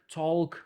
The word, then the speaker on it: talk: so'zlarni pronounce qilayotganda masalan walk, talk emasda mana bu l harfi pronounce qilmasligi kerak. Ya'ni walk, talk xuddi shunaqa.